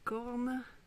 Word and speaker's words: Corn: Marine, elle est belge et elle s'est installée quelques kilomètres avant le village de Corne. D'ailleurs, on prononce Cor. Apparemment, les locaux ne prononcent pas le N.